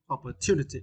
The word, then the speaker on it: opportunity: uh OPP uh opportunity opportunity and for this question you need to stress um the third syllable two opportunity yeah it's meant a